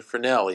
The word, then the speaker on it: Fresnel: something known as the finale effect so that's how it's spelled it's a French name so typically this s is going to be silent but that's an aside